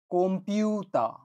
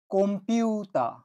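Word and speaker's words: コンピューター: পিউতা কনফিউতা কিন্তু আসলে যখন এই শব্দটা উচ্চারিত হবে তখন এটার উচ্চারণ হবে কম্পিউ কম্পিউ বুঝতেই পারছো এটা কম্পিউটার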